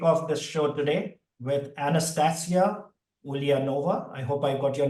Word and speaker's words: Anastasia Ulianova: I'm fortunate to kick off this show today with Anastasia Ulianova.